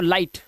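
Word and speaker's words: light: से पढ़ना सीखे, और जीएसटी में आया जीएच बिल्कुल साइलेंट होता है, ठीक है। कैसे होता है आइए दिखाता हूं। तो उस हिसाब से ये पढ़ेंगे लाई, और जीएच साइलेंट तो लाइट, ऐसे ही फाइट, साइट, राइट और नाइट।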